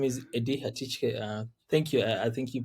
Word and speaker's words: Hatitye: My name is Eddie Hatitye. Thank you. I think you pronounced it very well.